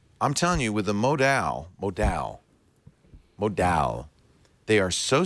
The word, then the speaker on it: modal: you've probably heard of modal modal modal is the way I pronounce it modal it's um it's kind